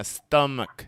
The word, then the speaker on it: stomach: the cave sound yeah stomach stomach some people say stomach some people say stomach both again totally understandable stomach h is silent peter you tell your